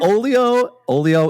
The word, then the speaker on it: Olio: We are here with Megan Bannister from, I'm hoping I'm pronouncing this right, Olio? Yep. Yeah. Olio in Iowa.